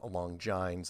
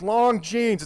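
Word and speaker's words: Longines: I pronounced it Long Jines, and I had older people calling me up. It's Long Jeans.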